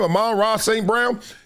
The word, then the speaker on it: Amon-Ra St. Brown: Amon-Ra St. Brown?